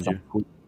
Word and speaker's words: Sanju: We are here now with TheSadgeBean and Sir Sanju, or is it Sanhu? Sanyu? It's technically pronounced Sanju. Sanju, but Sanhu, yeah, yeah, but yeah, it's Sanju.